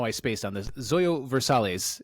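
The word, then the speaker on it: Zoilo Versalles: I spaced on this Zoyo versales is how you pronounce his name uh was a Minnesota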